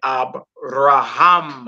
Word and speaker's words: Abraham: Instead of saying Abraham or Abraham, you say Abraham.